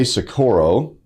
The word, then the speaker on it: Socorro: We have Jose Sakuro, and I did a decent job of pronouncing your last name, didn't I?